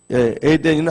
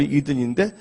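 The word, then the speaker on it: Eden: 에덴은 한국 발음이고 영어로 이든인데 간 이든이라는 게 천국의 히브리어로요.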